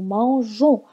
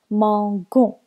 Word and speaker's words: mangeons: Par exemple, le verbe manger, ça devient nous mangeons. On a ajouté la lettre E avant le ONS pour ne pas la prononcer mangon.